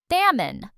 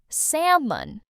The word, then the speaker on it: salmon: This word has a silent L and it's a type of fish. Salmon. Salmon.